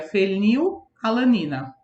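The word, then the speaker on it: fenilalanina: de Biologia é a fenil-alanina apesar de estudar gente escrever o nome tudo junto a gente pronuncia fenil-alanina tá então é existe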